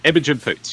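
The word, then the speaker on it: Imogen Poots: Imagigen Poots.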